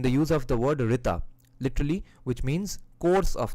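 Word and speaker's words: ṛta: in the religious world rita is right. So you see, the word itself kind of has the exact same pronunciation, right? RTA, rita, right, right, RITE, RIGHT, RTA. There's a similarity here.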